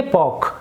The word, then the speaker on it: pork: बोलते हैं, इसमें देखिए पोर्क ऐसा नहीं बोलेंगे हम, PORK है, इसमें आर जो है वो साइलेंट रहेगा तो हम बोलेंगे पॉक, राइट।